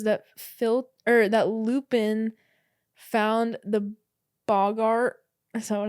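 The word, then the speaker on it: boggart: My only other note on this chapter was that that Lupin found the Bogart.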